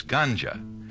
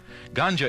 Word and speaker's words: ganja: A second type of marijuana is known as ganja, and it's spelled G-A-N-J-A.